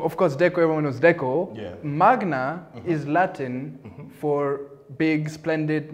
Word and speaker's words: Decomagna: well the company name is and here i'll pronounce it properly is deco magnet no and trust me deco deco magna deco i'm not the one i'm not the